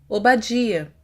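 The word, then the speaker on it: עֹבַדְיָה: nome do profeta obadia percebam que a letra her não têm inserido no final mapic evidenciando dessa forma sua função vocálica a qual é sinalizada pelo câmbio gasol cujo som é a por isso pronunciamos obadia e por fim encontramos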